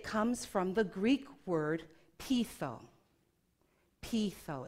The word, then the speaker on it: peitho: Now, when I look for where did this word originate from, it comes from the Greek word peitho. Peitho, it's spelled P-E-I-T-H-O, which means to persuade.